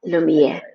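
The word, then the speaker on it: Lumière: Is that how you say it? Lumiere. Like the light, Lumiere.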